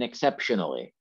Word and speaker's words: exceptionally: And where's our stress in exceptionally? I'll try and practice putting it in different places here too. So is it exceptionally, exceptionally, exceptionally, exceptionally, exceptionally? This is like a pronunciation class. Exceptionally, right?